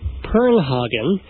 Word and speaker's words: Purnhagen: bird kind of a way in ghost Greg per hogen and as as um am I corre correctly because it rhymes with that's very good thank you hog